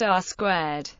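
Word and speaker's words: R²: R2 or R2 and pronounced R squar is a number that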